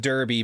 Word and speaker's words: Derby: I'm aware that it should be pronounced Derby, but it's not. Well, I'll tell you. In America, it is.